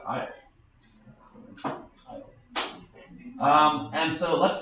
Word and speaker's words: Io: We've got Jupiter, and Jupiter has a bunch of moons, one of which is called, I think it's pronounced Io.